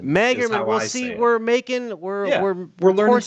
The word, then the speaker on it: Magerman: You know, just don't call me late for dinner, but it's Magerman. Magerman.